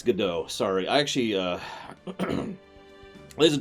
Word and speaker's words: Godot: Yes, G-O-D-O-T is pronounced Godot.